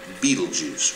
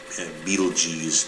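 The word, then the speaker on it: Betelgeuse: um because it's so bright it's called uh beetlejuice or beetlejuice depending on how you want to pronounce it anyhow uh this is the pattern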